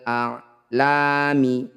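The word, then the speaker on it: الأعلام: Ketika dihentikan, fil bahri kal a'lam. Huruf terakhir disukun.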